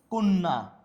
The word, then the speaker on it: কন্যা: উচ্চারণে একদম শেষ পয়েন্ট, শব্দের মধ্যে বা অন্তে জফলা যুক্ত হলে, শব্দের মাঝে বা অন্তে জফলা যুক্ত হলে সেটির উচ্চারণ দ্বিত্ব, সেটির উচ্চারণ কেমন হয় দ্বিত্ব হয়, যেমন অদ্য, কন্যা, করলেন, উচ্চারণ কি হচ্ছে আমার দ্বিত্ব হচ্ছে, অর্থাৎ আমার দুইবার হচ্ছে।